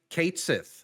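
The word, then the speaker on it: Cait Sith: Are they gonna say Ketchi or not? Turns out, no. They are They going said, to pronounce it Kate Sith Kate Sith, in yeah.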